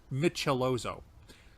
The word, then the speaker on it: Michelozzo: It makes it a little easier to phonetically see how you pronounce the name. Michelozo.